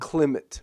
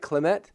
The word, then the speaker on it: Klimt: Klimt, right? Klimt?